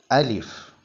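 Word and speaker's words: ألف: പറഞ്ഞു നോക്കാം ഒന്നാമത്തെ അക്ഷരം അലിഫ് അലിഫ് അലിഫ് അലിഫ് നീട്ടാനുള്ള അലിഫ് അല്ല ഹർക്കത്തുകൾ നൽകപ്പെടുന്ന അലിഫാണ് തൊണ്ടയുടെ അടിഭാഗത്തുനിന്നാണ് അലിഫ് മൊഴിയേണ്ടത് അലിഫ് മൊഴിയുമ്പോൾ ശബ്ദം നീളരുത് കാറ്റ് വരരുത് ഏതൊരു അക്ഷരവും അതിന്റെ ഉച്ചാരണം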